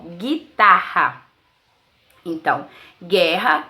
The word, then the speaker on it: guitarra: temos a palavra guitarra na palavra guitarra G1 também é dígrafo pois quando dizemos assim o Gui não pronunciamos o o guitarra bom então guerra e